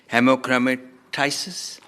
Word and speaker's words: haemochromatosis: house has considered genetic let me correct my pronunciation hemochromatosis near but as many as are of that